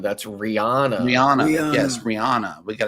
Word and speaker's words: Rihanna: Mike says Rihanna wasn't born today. Oh No, I mean the Barbadian singer that we all know and love, Rihanna. I don't like it. That's not Rihanna. That's Rihanna.